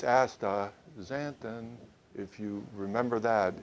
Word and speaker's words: astaxanthin: couldn't figure it out can but uh it's ASA zanton if you remember that it's real easy to